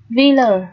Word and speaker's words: villa: Tiếp, villa, villa là biệt thự, đúng không nào? Chữ A ở đây được phát âm là âm ơ, villa.